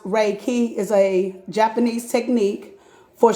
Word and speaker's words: Reiki: read all right chapter one Riki Define Reiki pronounced Reiki is a Japanese technique for stress reduction and